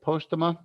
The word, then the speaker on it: Postema: Vaughn, am I pronouncing it right? Postema? Yeah, actually, you are.